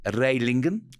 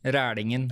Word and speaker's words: Rælingen: Correct me if I don't pronounce this properly. Your story begins in Rælingen. Rælingen. Rælingen. Rælingen, I'm yeah. getting better.